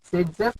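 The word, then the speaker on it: Zaitsev: Sage-Jeff is the pronunciation, Z-save is the name.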